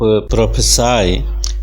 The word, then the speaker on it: prophesy: Please see the spelling of प्रोफेसाई, P-R-O-P-H-E-S-Y.